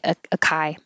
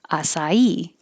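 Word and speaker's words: açaí: I have to look this up every time because I see it and I want to say acai, but I looked it up. Acai, acai.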